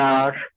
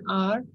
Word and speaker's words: hour: When H is silent in some words, you can use an. Can you give examples? Any one of you? Sahil, can you give example? Ma'am, an hour. An hour.